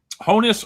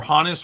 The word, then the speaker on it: Honus: Honus or Hannes Wagner is also one of those ones that you can do either way, honestly.